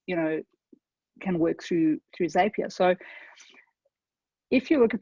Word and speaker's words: Zapier: So first things first, it's Zapier. And there is a way to pronounce it that is actually detailed on the Zapier website.